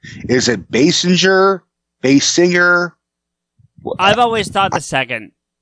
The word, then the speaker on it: Basinger: Is it Basinger? I've always thought the second. Basinger? Yeah, but with a little bit of a you emphasize the ing, so Basinger.